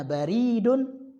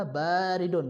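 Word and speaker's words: بارد: Ini jangan salah baca ya. Kalau bacanya baridun berarti dia pos, kotak pos, kantor pos. Ya. Jadi baca yang benar adalah baridun, ba-nya dipanjang.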